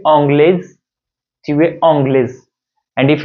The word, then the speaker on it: anglaise: Otherwise, you can say, if it is a feminine gender, you should add extra e and pronounce it like tu es anglaise, tu es anglaise.